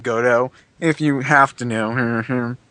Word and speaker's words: Godot: Yeah, Godot, well, that's pronounced Godot, if you have to know.